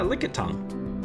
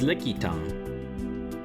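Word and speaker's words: Lickitung: Yeah, lick tongue. It's not spelled like that. It's it's licky tongue.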